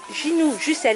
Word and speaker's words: Ginou Jussel: Et on est à la FNAC de Belleville, et on est en compagnie de Ginou Jussel. Est-ce que je le prononce bien?